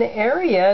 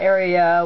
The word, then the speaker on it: Aria: Yeah, Aria was not very excited about that. And I'm trying to learn to pronounce her name as Aria, not Aria.